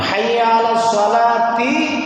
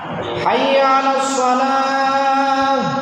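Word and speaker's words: حي على الصلاة: যেমন হাইয়া আলাস সালাতি না, তি বললে হবে না। হাইয়া আলাস সালাহ, হাইয়া আলাস সালাহ একসাথে বলতে হবে দুইবার, কিন্তু কুল তারে হা বানাইতে হবে, হারে আবার সাকিন যুক্ত হা বানাইতে হবে।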